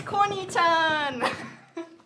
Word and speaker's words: Koni-chan: It's Koni-chan. Welcome, Koni-chan. to Koni-chan, Northern welcome Wind. to our family. So it's spelled Koni.